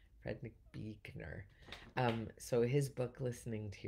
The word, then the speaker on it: Buechner: It's Frederick Buechner. Frederick Buechner.